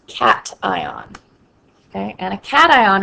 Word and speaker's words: cation: call it an ion the second word is pronounced cat ion okay and a cat